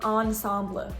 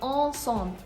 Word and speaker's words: ensemble: And neither the N nor the M are pronounced. You're not saying ensemble. You're saying ensemble.